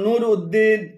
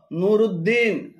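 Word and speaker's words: نور الدين: উম্মু সালামা 40 নম্বর অনেকে নামের সাথে একটি আলাদা শব্দ হিসেবে উদ্দিন লেখেন যেমন নুরুউদ্দিন, সিরাজউদ্দিন, শামসউদ্দিন, আলিমউদ্দিন এভাবে উদ্দিন বলে আরবিতে আলাদা কোন শব্দ নেই। এগুলো শুদ্ধ উচ্চারণ হল নুরুদ্দিন রুদ, নুরুদ্দিন সিরাজুদ্দিন, জিমদাল, সিরাজুদ্দিন, শামসুদ্দিন, আলিমুদ্দিন তবে দিয়াউদ্দিন উচ্চারণ সর।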